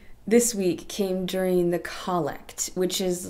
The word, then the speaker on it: collect: I don't know why it's called collect and not collect, but it's spelled the same way, and I don't know if it's just a church pronunciation.